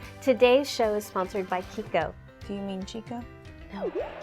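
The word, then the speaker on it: Chicco: Today's show is sponsored by Chico. Do you mean Chico? No, Chico. It's spelled C-H-I-C-C-O, but it's pronounced Chico.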